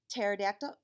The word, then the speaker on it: pterodactyl: and it's interesting because even though it sounds like it starts with a t pterodactyl it actually starts with a silent letter p isn't that weird no